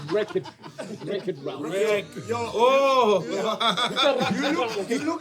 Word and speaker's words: Wreck-It Ralph: You said racket round. It's wreck. The W helps you go wreck it round.